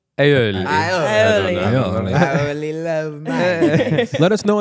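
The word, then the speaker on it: aioli: love a garlic aoli oh is that how you say aoli yeah oh not ioli aoli I love let us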